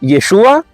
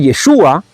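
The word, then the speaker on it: ישוע: muda y por tanto si confundían la ain con la Alf es muy posible que aunque escribiese yeshua cuando cuando lo leían o cuando lo llamaban en realidad pronunciaran yeshu y por tanto no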